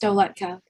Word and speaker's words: Dowlatkhah: It's actually pronounced Dowlatkhah, but it's not like we've known each other since middle school.